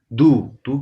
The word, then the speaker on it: deux: इज थ्वा आ आ डू की spelling है दे उ एक्स DEUX है लेकिन यहाँ पे इसको पढ़ना है डू तो फ्रेंच है ही